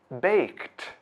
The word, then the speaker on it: baked: The verb bake ends with the k sound. So, when ed is added, it is pronounced baked.